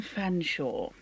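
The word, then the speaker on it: Featherstonehaugh: It would be Simon Fanshawe, spelt Featherstone Whore. Yeah, that's like Worcester sauce there.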